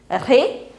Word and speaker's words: réveil: E is with accent. So it becomes, it's not a R. It's a ré. Réveil. Now there is a pronunciation tip over here.